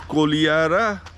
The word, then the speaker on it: Kodihara: That is Kolihara, written Kodihara.